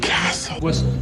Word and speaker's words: castle: في الكلمات دي ما نطقناش اصلا حرف التي، كأنه مش موجود، تجاهلناه تماما. Fasten your seatbelts. Fasten your seatbelts. The castle. The castle.